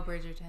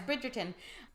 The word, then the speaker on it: Bridgerton: one it's not it's Netflix Bridgerton oh Bridgton brid Bridgerton bridg no you got itd yeah it's Bridgerton and I always hear